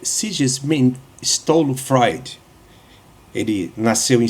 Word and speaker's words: Sigmund Freud: Eh, Sigmon Freud, ou seja, a pronúncia certa é Sesm Stolo Freud.